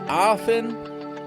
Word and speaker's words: often: American accent the words often and War diser sauce starting with a this word has two syllables that means that there are two units of sound in the word AF is the first